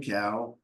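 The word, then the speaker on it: Kao: butcher his last name his last name is spelled k AO so men cow I'm guessing and Gary Burell so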